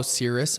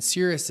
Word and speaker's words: Cirrus: do they find you on social definitely follow Cirrus on Instagram and Cirus is spelled c i r r u s you